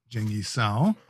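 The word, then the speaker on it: 鄭一嫂: And in Mandarin, you did pronounce her name correctly, which is Zheng Yi Sao.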